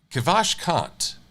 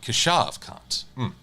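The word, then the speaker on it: Keshav Kant: name i'm so sorry kavash kant no kashav kant i must correct this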